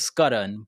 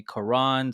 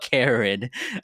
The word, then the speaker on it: Karan: name right yeah it's the indian pronunciation is scudden but i've gone by to simplify it people in school have called me koran so i mean whatever anything but karen i would have been okay with karen in the